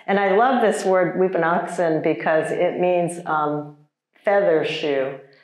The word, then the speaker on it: wiphunakson: And so Weepinoxen Naga Amagas is the pronunciation of that. And I love this word Weepinoxen because it means feather shoe.